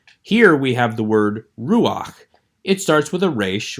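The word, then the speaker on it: רוּחַ: be pronounced first so this is not ru ha this is again it only happens in a few cases and you'll memorize these for instance in the word ruach meaning spirit so that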